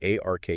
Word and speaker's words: A.R.K.: It's called the A.R.K universe. A.R.K. as in A.R. there. Pronounced ARK.